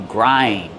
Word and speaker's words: grind: You grind. You grind the pepper with a peppermill. How do we pronounce grind? Grind. Use the long I like find and mind.